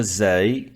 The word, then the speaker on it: زاي: La lettre Zay lui ressemble, mais avec un point au-dessus. Ra, Zay. R, Z. Il donne le son de Z. Zay donne le son de Z.